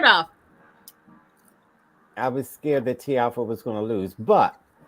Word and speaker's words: Tiafoe: Is it Tiafoe or Tiafoe? Well, you Americans say Tiafoe, but it's Tiafoe.